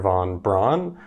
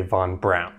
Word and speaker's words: von Braun: a fan of Braun he preferred Brown because that's the German pronunciation and the literal meaning of his last name so throughout this video I'm going to do my best to say Von Brown Von Brown was born